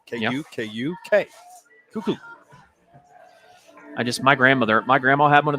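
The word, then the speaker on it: Kukuk: I know, and it's not really the proper spelling for that. I mean, I guess it is. That's the pronunciation of the last name. K-U-K-U-K. Cuckoo.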